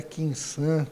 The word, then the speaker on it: Quinsan: com a Quinsan, com S. Eu sempre falo, porque eu sempre falo com uma pronúncia de Z. É errado. Professora de português fala é com S, então estou me corrigindo.